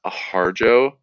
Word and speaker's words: Harjo: name is pronounced sterling harjo like with the with the j sound but like uh he